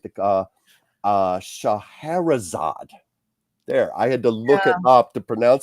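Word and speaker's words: Scheherazade: of and I want to make sure I pronounce this right the uh uh shaherzad there I had to look it up to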